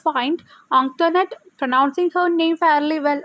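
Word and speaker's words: Antoinette: അപ്പോൾ എല്ലാവർക്കും കുഞ്ഞിച്ചിരുതയ്ക്ക് മനസ്സിലായി കുട്ടികളായാലും ടീച്ചേഴ്സ് ആയാലും ആൻറ്റോനറ്റിൻ്റെ നെയിമും ഇതുപോലെ മിസ്പ്രൊനൗൺസ് ചെയ്യുന്നുണ്ട്, തെറ്റായ രീതിയിലാണ് ഉച്ചരിക്കുന്നത് എന്ന് മനസ്സിലായി.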